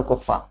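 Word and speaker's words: Koffka: तो इन्हें आप व्लादिमीर कोहलर कोफ्फा के नाम से जानते होंगे, लेकिन इसका एक्चुअल उच्चारण है वर्थहाइमर, कोहलर और कोफ्फा।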